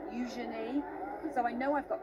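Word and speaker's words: Eugenie: And I was with her at an event the other day actually, and she was telling everybody there just how to pronounce her name. Use your knee. Euenei.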